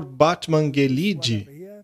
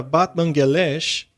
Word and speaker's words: Batmanghelidj: bem houve um cientista chamado Dr batmanghelidj mas aparentemente se pronuncia batmanghelidj este médico era um